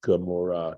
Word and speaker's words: Gomorrah: it's spelt that way in English, and it's pronounced Gomorrah because it sounds so much like that guttural Amorah.